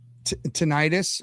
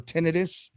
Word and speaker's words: tinnitus: It started out with tinnitus or tinnitus, depending on how you say it.